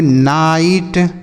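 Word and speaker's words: night: तो यहां पे आई का उच्चारण क्या हो रहा है? आई हो रहा है समझ में जैसे फाइट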